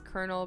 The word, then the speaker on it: colonel: The word was then adopted by the French, who translated the term in their own language, converted the word colonello to the word coronel. That is the reason why colonel is pronounced colonel.